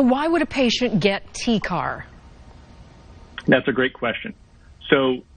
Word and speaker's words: TCAR: Can you pronounce it for us and tell us what it is? Sure. So we call this TCAR, and what that stands for is transcarotid arterial revascularization.